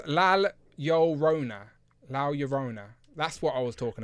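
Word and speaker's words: La Llorona: Cute Cool says it's pronounced Lal Llorona.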